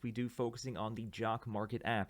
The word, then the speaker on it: Jock MKT: j-o-c-k-m-k-t Dot online so it's pronounced jock Market down online but it's